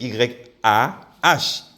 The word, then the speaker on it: Yah: Ce qui veut dire que la prononciation de YH, c'est Ya. Which means that the pronunciation of YH is Yah.